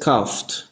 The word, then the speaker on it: coughed: En este caso es coughed, ¿no? No se pronuncia la E.